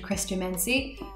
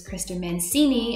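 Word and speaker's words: Chrestomanci: They go off to live with this extravagant man named Christo Mansi. I always mentally pronounced his name as Christo Mancini, and that's like stuck with me my whole life, just saying it wrong.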